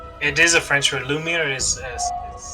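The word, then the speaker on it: lumière: to read french it is a french word lumiere is how you say it i'm almost false okay lumiere okay yeah you're pronouncing it actually but it is a french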